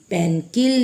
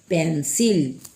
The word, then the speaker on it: pencil: पेंसिल, पेनकिल नहीं, पेंसिल।